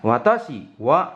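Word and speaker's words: 私は: Jadi itu "watashiwa", bukan " watashi wa", oke.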